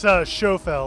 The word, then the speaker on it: Schofel: It's Schofel, like show and tell. Schofel. Schofel.